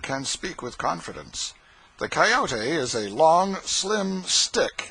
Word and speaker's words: coyote: remember rightly this latter was the regular coyote pronounced coyote of the farther deserts and if it was